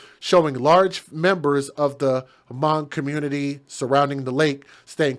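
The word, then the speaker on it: Hmong: The Twin Cities area is home to the largest concentration of Hamang people in the United States. And again, that word mong or hamang is h m o n g. That's the way it's spelled.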